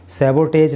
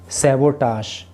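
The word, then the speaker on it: sabotage: ये सैबोटेज नहीं है बल्कि सैबोटाश, इसका जो है प्रोनाउंसिएशन होता है।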